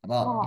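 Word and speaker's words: ر: Ketika mengucapkan rnya kalau ibu lebih kera, Ibu lebih kera membacanya ro. Iya. Ro harusnya ro ya.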